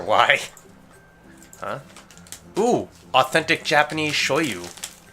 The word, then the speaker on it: shoyu: Ooh, authentic Japanese shoyu. Shoyu? I don't know how to pronounce it.